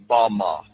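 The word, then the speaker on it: בָּמָה: The Hebrew word used in this text for the heights from which Satan fell is Strong's Hebrew word 1116, pronounced Bama. Bama is most commonly used to refer to a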